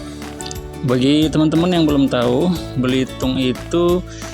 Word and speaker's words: Belitung: belum tahu Belitung itu oleh penduduk lokal disebut belitong teman-teman ya makanya kita sering dengar berhitung dan belitong dan itu sebenarnya berasal dari nama sebuah logam yang disebut biliton biliton ini kemudian berubah ya pelafalannya disesuaikan dengan penduduk lokal menjadi Belitung teman-teman setelah sampai kita langsung